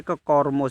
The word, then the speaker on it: Kormo: तो इसका सही जवाब है, देखिए इसकी स्पेलिंग देख लीजिए, कॉर्मो, KORMO, कॉर्मो ऐप है।